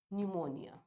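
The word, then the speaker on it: pneumonia: करता है it causes न्यूमोनिया तो भैया अभी पनमनियन है इट इज न्यूमोनिया starts with the letter P बट इट is silent here अभी न्यूमोनिया कॉज करा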